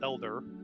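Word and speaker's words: El'dar: So it's uh in our tongue it's elder beast but it's spelled e l apostrophe d a r and it means great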